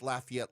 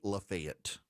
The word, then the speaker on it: Lafayette: And so I know it's Lafayette, Louisiana. In Georgia, for reasons that flumx me to no end, they say Lefayet.